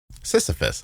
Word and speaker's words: Sisyphus: Sisyphus.